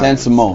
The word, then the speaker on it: San Simon: San Simone. Simone, that's right. San I Simone. was like, I didn't feel like I was saying it right. Dude, I thought it was It didn't feel Simeon.